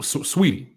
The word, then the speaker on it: Saweetie: sweetie they of course am i pronouncing her name correctly is it sweetie like it looks like it's spelled wheatie that's right but it looks like s-a-w so how is it sweet okay so so sweetie that's okay there's no